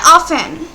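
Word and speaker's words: often: এখানে হবে অফেন বা এটা অনেকে অফটেনও উচ্চারণ করে থাকে।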